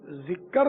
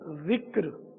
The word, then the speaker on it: ذکر: یہ ذکر نہیں ہے، ذکر کاف ساکن ہے، یعنی یہ بالکل یہ عام ہے تلفظ کی غلطیاں، جیسے ذکر، فکر، صبر، شکر، فجر، عصر، قبر، حشر، یہ سب غلط ہے۔ ذکر، فکر، فجر، عصر، صبر، شکر، قبر، حشر، امر، عذر، کئی جگہ انہیں ساکن بیچ کا حرف ہوتا